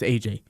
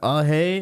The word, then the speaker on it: Ajay: I mean, they're like, how do you say your name? Is it Ajay? Is it Sanjay? Or is it Anjay? Like, it's not hard, people, but they make it hard.